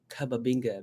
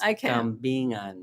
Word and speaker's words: kambingan: But she calls it cababinga because she could not pronounce kambingan.